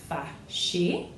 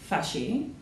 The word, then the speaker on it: fâché: Fâché, when it's turned to the feminine, only changes in spelling, it does not change in pronunciation.